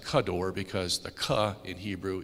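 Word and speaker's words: כדור: look at this is technical but it's actually pronounced kador because the KA in Hebrew is means like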